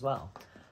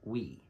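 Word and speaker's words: Oui: juicy couture fragrance called we o-u-i we oi is what it looks like but i think it's called we just how you pronounce it we if it's oi then i'm wrong but i call it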